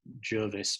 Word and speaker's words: Gervais: I think actually his name is pronounced Jervis, but it's spelt Gervais.